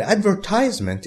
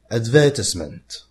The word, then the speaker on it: advertisement: is an advertisement an advertisement is an announcement in a public medium British people say advertisement Americans say advertisement at for short you